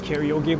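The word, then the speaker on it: カラオケ: Why are you pronouncing it like an American? That's just my bad freaking habit there now. Karaoke. I'm sorry. That's actually my bad habit here. Like I started making fun of it, and then I say it like that too now.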